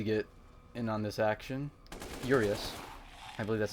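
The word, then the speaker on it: Urias: in on this action urius I believe that's how you pronounced his name uus urius I think it's urius because there's a trophy you get that's called up yours I'm going to save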